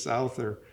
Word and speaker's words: Souther: I called it Souther for so many years, and I find out that the preferable pronunciation is Souther, so it's hard to remember which is which, but I know people call it both ways.